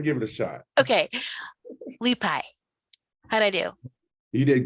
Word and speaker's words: Leapai: Leapai. How'd I do? You did great. You did great. Really? Yeah, the E is actually pronounced E, so it's a Leapai.